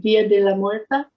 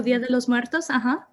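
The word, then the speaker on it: Día de los Muertos: And for example, I don't know if I'm saying it right, Dia de la Muerta. Oh, Dia de los Muertos, De los Muertos.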